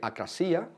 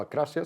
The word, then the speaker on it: acrasia: Uno es la idea de acrasía, o acrasia, se puede pronunciar de las maneras, si queremos ser más griegos o menos.